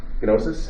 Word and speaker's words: gnosis: word for knowledge is gnosis you pronounce the g well gamma gnosis and so what is